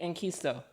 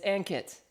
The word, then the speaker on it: Ankit: I'm gonna say Enkisto or Ankist. It's Ankit. Oh, Ankit.